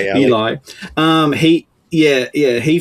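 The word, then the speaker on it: Elie: Ellie. Eli. Eli.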